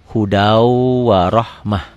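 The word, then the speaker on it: هدى ورحمة: dari sini ke sini ditulisnya Hudan warahmah dibacanya hudau di atas wunya ada sidahnya ada tasjidnya hudau ahmah tulisannya Hudan bacanya hudau idom bunah Kenapa karena tanwin karena patah dua patah t ketemu wau tulisannya Hudan warahmah dibacanya hudau warahmah ini warahmatan kalau dibaca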